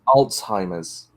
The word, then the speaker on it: Alzheimer's: Yeah, it's Alzheimer's. That's what I said. There's no D. It's Alzheimer's. Alzheimer's. It sounds like you're pronouncing a D in there.